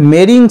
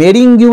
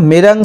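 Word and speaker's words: meringue: তার সাথে কি ব্রোকেন মেরিং সেলস, ঠিক আছে, এই মেরিঙ্গিউ এরকম উচ্চারণটা হবে না, মেরাং সেলস বা মেরিং সেলস, এটা মানে হচ্ছে ডিমের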